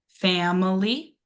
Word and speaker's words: family: So then that next word we have is family. Family. Family. What do we think that stress syllable is going to be? Very good job. So fu is going to be our stress syllable.